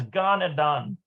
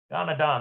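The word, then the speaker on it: גן עדן: I keep wanting to say it in the Hebrew sense because the word for Eden is Gan Eden. Gan Eden, that's how you pronounce it in Hebrew.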